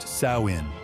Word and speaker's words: Samhain: They called this night Samhine, pronounced sainin, and it marked the end of their harvest season and the beginning of winter.